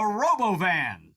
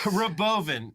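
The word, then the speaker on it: Robovan: out of surprise the robo van which Elon inexplicably pronounces Boven uh Roven oh just rolls up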